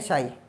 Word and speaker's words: chi: What is this, इसको चाई बोलते हैं, कई बच्चे शाई बोलते हैं, ठीक है, ये प्रोनाउंस है यहाँ पे, प्रोनाउंसिएशन चाई बोलते हैं बच्चे, बुकों में CHI लिखा था, तो है ये शाई।